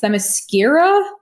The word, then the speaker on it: Themyscira: i always feel like i'm going to pronounce it wrong it's themyscira yeah that's it i love